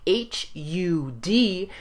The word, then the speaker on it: Har: you change the Mantra it's spelled h-a-r but it sounds a little bit more like h-u-d because as you champ